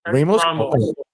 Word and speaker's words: Ramos: Ramos.